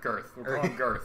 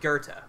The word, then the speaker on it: Goethe: think it's gonna go it's either know their girth depending on the dialect like girth yeah girth no its Goethe it's how it's pronounced in certain dialects anyway why don't you